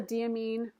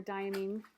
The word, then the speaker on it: Diamine: This is a diamine or diamine. Like I said, there's different, people pronounce it different ways.